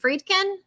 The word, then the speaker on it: Friedkin: We're gonna sit here until you say it right. The man has passed. You say his name correctly. Friedkin.